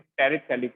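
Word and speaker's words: terephthalic: तो यहाँ पे बताओ कौन सा एसिड है, 1,4 पे है, इट इज टेरिथैलिक acid. T silent है, TEREPTHALIC।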